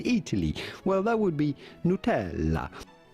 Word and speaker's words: Nutella: Well, that would be Nutella. Nutella. You do want to insist on the E and the double L. Nutella.